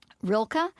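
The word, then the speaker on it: Rilke: to and you can help me with pronunciation rilka am I saying that right you're the expert you have got Reiner Maria rilka in Flora and Ulysses yes yes yes um and more to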